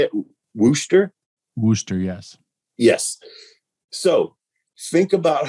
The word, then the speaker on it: Worcester: we're in how do you say it worcester wooster yes yes so think about how much a